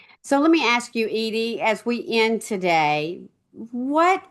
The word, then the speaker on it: Edie: Edie, 1D, Edie, not Eddie. Last name, M as in Mary, Elson. So let me ask you, Edie, as we end today